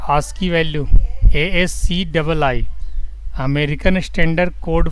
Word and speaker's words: ASCII: इसका प्रोनाउंसिएशन कैसे किया जाता है? आस्की value, ASCII, American standard code for information interchange.